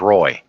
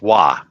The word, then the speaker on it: Roy: Everybody would have think that Patrick Waugh's name was Roy. That's well, true. That's the way it's spelled, but it's pronounced Waugh.